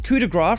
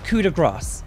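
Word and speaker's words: coup de grâce: is cuda grass now i was calling this coup de gras for a long time thinking that i was really fancy and pronouncing it right but i've actually been informed by french speakers that it is cuda grass every time a generator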